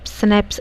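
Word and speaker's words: Schnapps: स्कम्स क्या होता है इसको सनेप स्नेप्स ऐसे ही प्रोनाउंस किे यहां पर बताया गया इसका मीनिंग हमारा जर्मन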